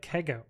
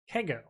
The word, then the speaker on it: C3GO: Is C3GO pronounced like Kego? Okay, cool. I will remember that. Kego.